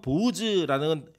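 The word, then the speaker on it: בֹּעַז: 그의 이름은 보아스도라라고 얘기합니다이 보아스라고 하는 이름은 히브리어로는 보우즈라는 발음인데 그 이름의 뜻이 뭐냐면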